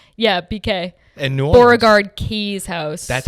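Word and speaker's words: Beauregard-Keys House: Beauregard Keys House. That's how you pronounce it.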